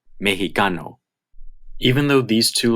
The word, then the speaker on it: mexicano: Most of the time it is pronounced x, like English, but there is another pronunciation, h. You will only hear this pronunciation in proper nouns and words derived from proper nouns, like Mexico and mexicano.